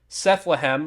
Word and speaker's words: Sethlehem: If you order on PayHip, it's a little bit cheaper, and you can find my social media on Sethlehem, rhymes with Bethlehem, but with Seth, and that's on X